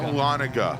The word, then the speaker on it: Dahlonega: Will is from, how do we pronounce this, Brian? Dahlonega, Georgia? Is that correct? Dahlonega.